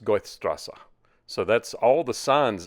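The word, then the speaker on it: Goethestraße: I pronounce this goth Goths throb that's not right that crazy-looking symbol there is actually two S's together is what that means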